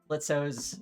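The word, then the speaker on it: Blitzø: And frankly, I just think Blitzo's I'm sorry, the O is silent.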